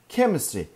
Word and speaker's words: chemistry: Burada Ç, change sesi var. Burada chemistry, K sesi var.